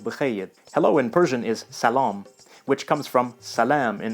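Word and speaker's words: سلام: Hello in Persian is salam, which comes from salam in Arabic. So you notice that the second A sounds a little bit like an O in English, kind of like shalom actually.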